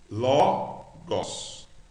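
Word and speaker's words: λόγος: Logos. Ló, L-O-G-O-S, gos. Logos. Então a primeira frase fica en, arque, en, O logos. Por causa do acento aqui, a gente pronuncia mais forte.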